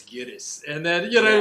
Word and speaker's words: Gittes: But like he'll purposely mispronounce his name, Mr. Gitz, Yeah. Mr. Gitz. You know what I mean? It's like, oh, it's Gittes, and then you know what I mean.